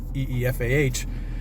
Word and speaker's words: Aoife: German Shepherd, Aoife, Aoife, but pronounced Eefah.